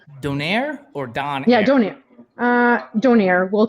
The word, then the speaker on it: donair: Is it pronounced donaire or don? Yeah, donaire.